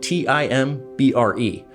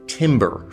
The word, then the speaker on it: timbre: What I'm describing is the timbre of an instrument spelled T-I-M-B-R-E. Which embarrassingly, I've been pronouncing as "timber" for my entire life, which is really hard to say in a room full of musicians.